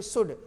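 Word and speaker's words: should: नहीं बोलना, इसे तो SHOLD शुड, सुलट नहीं बोलना, और FOL की फोक, ये फोक माने लोक भी होता है, जनसमूह भी।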